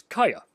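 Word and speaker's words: Gaya: like a state and this is kaya or gaia sometimes it's spelled with the g but it's a y a no matter which first letter you use this is not necessarily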